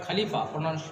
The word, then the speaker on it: Khalifa: In Turkey, Khalifas were, if you will study the book, caliphs were written, but Khalifa, we will pronounce Khalifa.